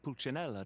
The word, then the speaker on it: Pulcinella: I had the rare honor of being summoned before the Tsaritsa with Pulcinella to answer for myself.